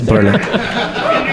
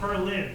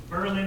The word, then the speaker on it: Berlin: I'm Brazilian but I have to correct you it's Berlin the same way same way as is not not Berlin it's Berlin in New Hampshire oh Berlin same but